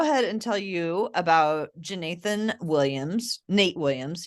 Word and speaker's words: Jeenathan: Well, so I'll go ahead and tell you about Jeenathan Williams, Nate Williams. He goes by Nate, although it's JEE Nathan Williams.